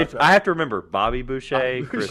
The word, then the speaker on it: Boucher: So there's only so much editing I Because can like do to Trevor, realize you I still don't remember like that Chris Boucher's name and how to say it as Boucher.